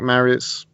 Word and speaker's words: Marriott: Wasn't Andy Marriott a goalkeeper at some point? Could well be. English Welsh. You can't be both. English Welsh footballer. There you go. His name rhymes with whack chariot.